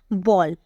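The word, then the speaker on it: ball: और देखिए एक और बॉल मैंने लिखा है, इसका जो प्रोनाउंसिएशन होता है वो होता है बोल।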